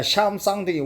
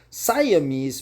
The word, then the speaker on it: Siamese: Yeah, Sham something, we say Sham something, but that's fucking wrong. The correct pronunciation is Siamese, man.